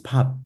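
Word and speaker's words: 밥: So none of the B's are actually pronounced as a B. It's not a bab. It's not bab. It's not pab. It's pab. Pab.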